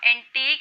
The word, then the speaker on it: antique: एंटीक एंटीक इसमें friends T double E के pronounce होगा एंटीक and that is एंटीक टी आई के prawn हम इसको जब प्रोनाउंस करेंगे तो ठीक है तो इसमें ये डिफरेंस है इसका थोड़ा सा हल्का सा प्रोनंसिएशन का आप इसका ध्यान रखिए आइए अब इनके मीनिंग